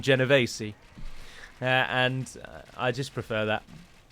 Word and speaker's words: Genovese: would pronounce it but in italian you would call them genovese and i just prefer